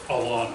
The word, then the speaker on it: Alena: Like Starbucks, like A-L-E-N-A, Alena. So that's, okay, yep. So it's Alana.